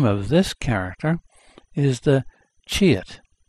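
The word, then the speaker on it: 치읓: and the name of this character is the chit pronounced c h i e u that's the name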